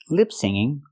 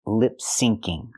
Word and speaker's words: lip-syncing: she means to say lip syncing there's no such thing as lip singing the phrase is lip syncing with the C Sound syn it's short for synchronize see you pretend you're